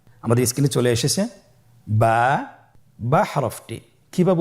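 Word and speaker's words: ب: বা হরফটি কিভাবে উচ্চারণ করবেন? বা হরফে টান হবে। এক আলিফ টান।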